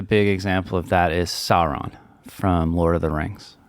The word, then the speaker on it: Sauron: Yeah, so obviously the big example of that is Sauron from Lord of the Rings. Right. Did I pronounce that right, Chelsea? Yeah, you pronounced it right. Sauron.